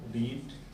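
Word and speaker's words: read: Verb का third form रीड, रेड रीड, बोलेंगे रीड, second form होगा रेड और थर्ड फॉर्म फिर रीड होगा, लेकिन तीनों फर्स्ट सेकंड थर्ड रीड ही लिखा जाएगा, स्पेलिंग वही होगी।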